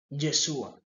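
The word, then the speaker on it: ישוע: Él nació y en el hebreo no se utiliza la J, se utiliza la Y. Yesua, en el inglés se dice Jesus. Entonces vemos de que cada en cada lenguaje el nombre de Jesús se pronuncia también diferente. En inglés se dice Jesus, en español Jesús, en hebreo Yeshua.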